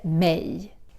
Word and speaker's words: mig: It's written mig, but we don't say it like that. We say instead mej.